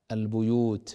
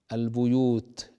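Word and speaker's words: البيوت: houses which is pronounced al Biyout as well as al Boyout The original word is by U sound In Arabic language, nouns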